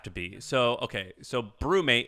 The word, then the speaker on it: BruMate: really into okay um have you heard of brewmate no and i'm not a coffee drinker is it a coffee drinking thing it doesn't have to be so okay so brewmate it's spelled bru m-a-t-e their first thing was